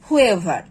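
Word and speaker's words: whoever: silent করে পড়বো যেমন হু হুম হুজ হোল হু এভার এই ধরনের ওয়ার্ডগুলোতে আমরা এইটাকে সাউন্ড প্রোনাউন্স করব বা এইস এর সাউন্ড ব্যবহার করব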